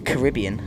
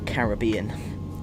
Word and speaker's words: Caribbean: I'm Vatsim ATC for the Caribbean, or Caribbean, depending on how you say it.